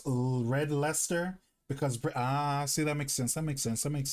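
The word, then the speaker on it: Red Leicester: Pronounced red leester because Ah, see that makes sense.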